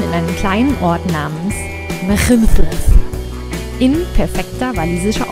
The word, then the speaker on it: Machynlleth: Wir starteten in einem kleinen Ort namens Machynlleth in perfekter walisischer Aussprache.